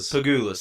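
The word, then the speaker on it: Pegulas: Pagulas.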